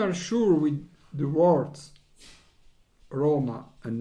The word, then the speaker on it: Roma: roma on the napoli with italian pronunciation roma napoli in both this italian world the accent falls on the first syllable syllable in this two